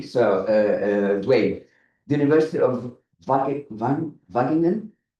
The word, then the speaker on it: Wageningen: Yun, I'm going to pronounce it very wrongly, so Dwayne, the University of Wageningen?